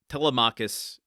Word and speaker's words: Telemachus: Telmachus, it's going to be moving forward.